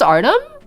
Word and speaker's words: Artem: It's pronounced Ardum with the Y and the O in there.